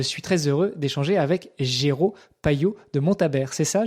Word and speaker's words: Géraud: m'en dises plus sur ton prénom, Géraud, et non pas Jérôme. Ça s'écrit Géraud, G-E-R-A-U-D. Et puis après, sur le nom